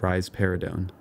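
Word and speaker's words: risperidone: for this is raridon you can remember that rise paradon gives rise to a pair of breaths by pronouncing it rise paradon finally we get to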